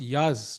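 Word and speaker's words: Yağız: entertaining I think for the player but for Yagas it's it's harder he has to hold and also interesting it's pronounced Yaz Chad is letting us know but I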